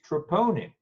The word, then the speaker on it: troponin: pronounce it, trying to figure out how to pronounce it. Yeah, it's troponin, right?